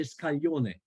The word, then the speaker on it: scaglione: So scaglione is spelled like scallion, then, right? Scallion, yes. With an E on the end. Scaglione. Yes. Scaglione. No, it's SCAGLIONE. Is GL in Italian.